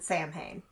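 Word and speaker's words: Samhain: First of all, they pronounce it samay and that is a phonetic pronunciation by an American.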